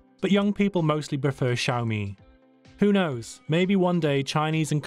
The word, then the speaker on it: Xiaomi: we often hear xiaomi xiaomi or even hyomi it's actually very simple the word can be broken down into two paths shao and me which makes xiaomi with the emphasis on the second syllable the fact that lesion